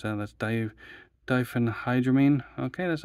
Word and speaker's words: diphenhydramine: Don't ask me how to pronounce that. That's diphenhydramine. Okay, that's not too bad. Diphenhydramine.